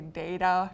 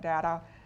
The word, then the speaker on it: data: aorn basic fatal agent I'm going to say data not data apron and all if